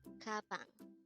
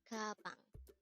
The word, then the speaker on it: 가방: Gabang. Gabang. This is the Korean word for bag. Again, gabang is just the Korean term for bag. Take note that gabang is also just composed of two syllables.